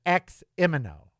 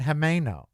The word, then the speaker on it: Ximeno: Everybody says Eximino. Everybody. Oh, it's over on Eximino. Well, where's Eximino? Eximino, right there. I go, oh, you mean Himeno. Oh, no, well, that's not how I pronounce it. Well, that's how the word is pronounced.